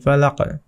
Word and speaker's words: فلق: কুল আউযু বিরাব্বিল ফালাক। এই যে এখানে দেখছেন যে এখানে একটা কলকলা হয়ে গিয়েছে, এখানে কলকলার হরফ চলে এসেছে। তো এখানে ফালাক একটু ধাক্কা দিয়ে পড়তে হবে।